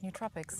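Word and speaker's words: nootropics: Um, neutropics. Am I saying it right? You are saying it right. Neutropics.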